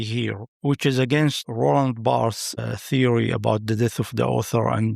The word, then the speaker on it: Barthes: I'm sorry, I have been mispronouncing Barthes and and saying Barthe. He is Barthes, so This is a note from my team.